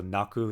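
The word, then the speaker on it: 泣く: So naku is how you say it.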